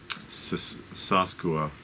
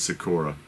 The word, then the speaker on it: Sakura: and here is uh saskua or sakura i said it wrong that's sakura and she is 55.